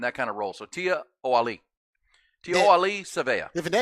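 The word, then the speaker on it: Tiaoalii: looked at the yeah the pause is after the Tia so it's Tia Ali and that kind of role so Tia o Ali TI Ali sea if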